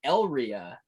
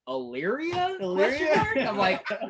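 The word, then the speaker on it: Elyria: called well oh you say how do you pronounce it i was like yeah normally we stay in uh el ria yeah this dude's like hillary where the hell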